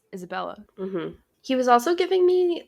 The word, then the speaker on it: Isabella: please don't but like he says her name wrong he definitely said isabelle but her name's isabella he was also giving